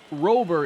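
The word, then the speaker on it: Luis Robert: eventually have it right I do believe robber is the proper pronunciation some players don't care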